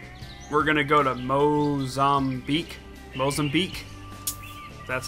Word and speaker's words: Mozambique: We're going to go to Mozambique. That's how you pronounce it.